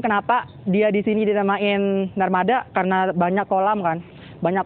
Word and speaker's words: Narmada: Nama situs ini tuh disebut Taman Narmada. Tapi dalam pengucapan orang sini, biasanya akhiran A tuh dibaca jadi E, jadi Narmada gitu kan.